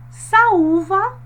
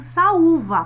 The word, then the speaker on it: saúva: Saúva, acento agudo no U, saúva. Percebam que nós passamos mais tempo pronunciando o U.